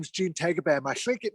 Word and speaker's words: Tagaban: My last name is Tagaban. In the Philippines, it's pronounced as Tagaban.